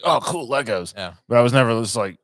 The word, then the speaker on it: Lego: video games well I I always said I wanted Legos or Lego is the proper way to say it but uh you know